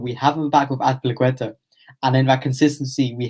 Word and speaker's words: Azpilicueta: Cesar Azpilicueta. Spanish way. I've got to pronounce it right. And then just Mason Mount, not as exciting. But he is that consistency, but we have him back with Azpilicueta.